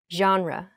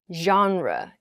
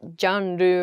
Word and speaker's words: genre: in a sentence i like down tempo music genre the next word is a great pronunciation point for many students it's genre genre so not gendu or genre i don't know but genre is the correct